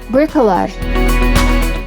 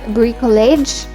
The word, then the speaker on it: bricolage: The correct pronunciation is Cunctation. Cunctation. Bricolage. A construction made of whatever materials are at hand, something created from a variety of available things. It's not bricolage, so we need to pronounce this as bricolage.